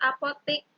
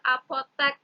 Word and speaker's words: apotek: Lalu ada kata apotik. Biasanya kita sebut apotik. Nah, kosakata baku dari apotik itu adalah apotek ternyata.